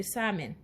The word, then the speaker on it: salmon: Ça c'est poisson, on dirait de salmon. En anglais, yo pas prononcer elle là, on va dire salmon ou dit salmon. Elle là dead.